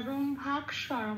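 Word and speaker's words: ব্রহ্মাক্ষরম্: কিয়টা 6 নম্বরে তালিকাভুক্ত করে দেওয়া আছে, কিয়কে ভাঙলে হয় কয় হসন্ত পেট কাটা মূর্ধন্য স। আচ্ছা, তাহলে এবার ময় ভয় আকারের সাথে কয় হসন্তটা চলে গেল, কয় হসন্ত মানে অর্ধ ক, সেটা আগের অক্ষরে ময় ভয় আকারের সাথে জুড়েই উচ্চারিত হবে ব্রহ্মাক বলে।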